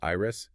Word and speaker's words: Ayers: Our mission today is to look through the eyes of two protagonists, Ayers, that's pronounced Iris, and Ivy.